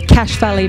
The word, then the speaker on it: Cache Valley: Now, Phil, you are the CEO of the Cache Valley Veterans Association.